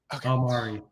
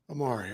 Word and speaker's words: Amaury: it that way when I sent the email Mari what's going on brother am I saying your name correctly perfectly Omari Omari okay when the moon hits the sky like